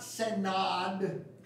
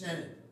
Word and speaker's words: synod: to pronounce our name it's not synod it's in it and he basically says